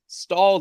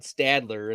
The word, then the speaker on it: Stalder: times and be like, no, it's Stalder. You're going to have to spell it right. It's not Stadler.